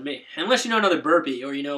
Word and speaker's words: Burpee: twitter it's just burpee one giant name word um and that's b-r-a-n-d-o-n-b-u-r-p-e-e yes it is pronounced burpee uh two bodily functions and one last name burp and p so i got that